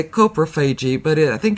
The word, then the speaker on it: coprophagy: Coprophagy. But it's C-O. Yeah. K-E-H is the way the dictionary. Oh, okay. Coprophagy.